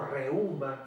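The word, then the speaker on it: reúma: Otra palabra que ustedes van a escuchar cuando trabajen, cuando estén ejerciendo la profesión, van a escuchar la palabra reuma o reuma con acento en la U, o reumatismo, ¿verdad?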